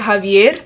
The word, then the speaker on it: Javier: book in the series I know everybody is saying Xavier but CU he is Colombian I've been pronouncing it Javier I mean it's not like it's a big deal but I just say Javier cuz he's you know Colombian but it's about Javier